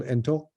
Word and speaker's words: ento: Namely, first person is anak, second is entak, or female ento, or enta, I should say. The T is not pronounced anymore.